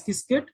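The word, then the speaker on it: Qiskit: IBM has also got its own software tool which is called askit q i kit t pronounced as kiskit.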